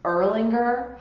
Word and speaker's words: Erlanger: A little pro tip, when you read these hospital names, you're going to be like, I have no idea how to pronounce them. It's Erlanger Hospital, and the other big hospital chain goes by CHI.